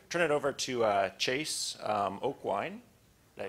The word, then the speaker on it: Aucoin: I'll turn it over to Chase Aucoin. Did I pronounce it right?